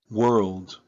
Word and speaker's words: world: Si no pronuncian la D al final, dicen somos la palabra. We are the world. Okay. So you have to mention the th at the end.